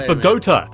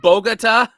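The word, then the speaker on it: Bogotá: You mean Bogota? Yeah, Bogota like Bogota, like pagoda. Like, okay. Uh Yeah. Yeah, go go there saying it like that, you'll get relocated real quick.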